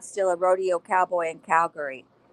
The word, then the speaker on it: Calgary: a rodeo cowboy in Calgary? David noticed that Carpathia had pronounced the city with emphasis on the second syllable, just like the locals.